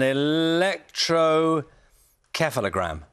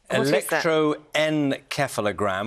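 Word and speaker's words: electroencephalogram: use something called an electro keogram what is that actually I think I've missed out a syllable electroen keogram which is a 20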